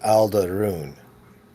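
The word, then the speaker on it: Al'druun: And it's it's spelled um I believe I have the spelling as a L d apostrophe r u u n. So it sounds like all the runes.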